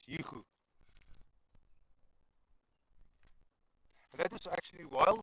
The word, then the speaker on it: Hugo: That is why Stefan Hugo is not Hugo, he's Hugo.